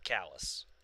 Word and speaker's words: Calais: callous main which is spelled calais like calais france but we pronounce it callus you know i [